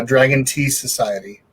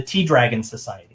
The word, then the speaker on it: T-Dragon Society: or no yeah no so it's uh the t dragon society t-dragon society okay yeah and that's based